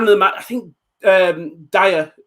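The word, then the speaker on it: Dia: Both teams gave, I mean, man of the match, I think Dyer, I think it's pronounced Dyer, in it?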